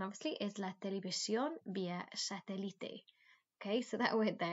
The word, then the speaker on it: satélite: And then this then obviously is la televisión vía satélite. Okay, so that word there, it's not pronounced satellite. Remember in Spanish, you've got to pronounce every letter, separately. So this is satélite.